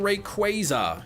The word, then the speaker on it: Rayquaza: I will keep saying Rayquaza. Yes, because that is the correct way to say it.